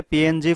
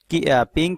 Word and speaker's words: PNG: 1990 সালের মাঝামাঝি সময়ে জিএফ এবং জেপিজি এর সুবিধাগুলো সমন্বয় করে পিএনজি ফরম্যাট তৈরি করা হয়, যাকে পিং কিংবা পিএনজি হিসাবে উচ্চারণ করা হয়ে থাকে।